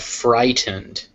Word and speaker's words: frightened: Wednesday next we have frightened F frightened frightened frighten you see always that a d is spelled with an e d but it's actually just pronounced like d frightened next we have